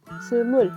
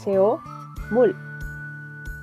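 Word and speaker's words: 스물: Por ejemplo, no sé, el 20, Sumul, lo escriben como CO, mul, en sistema romanizado. Pero nosotros no lo vamos a pronunciar CO mul, porque ni siquiera estaríamos pronunciando el número.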